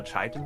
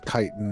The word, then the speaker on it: chitin: Chitin is the proper pronunciation. It's not chitin. Yes. Chitin. Is it kitten though? No, it's chitin.